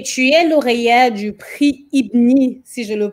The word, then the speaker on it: Ibni: Juste pour continuer, tu es lauréat du prix Ibni, si je le prononce bien, de l'année 2015.